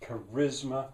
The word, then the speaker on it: charisma: a naming something and how to stress it charisma they're catching on to that that the three syllables the second one stressed and what does it mean